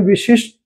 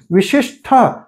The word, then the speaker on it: विशिष्ट: शब्द है विशिष्ट तो इसे हम कहते हैं विशिष्ट ट ठ नहीं विशिष्ठ ऐसा देखिए अब प्रश्न वहां